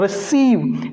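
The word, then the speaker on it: receive: जैसे रिसीव, रिसीव, यहां पर ई जो है ये आई के पहले यूज हो रखा है, रिसीव।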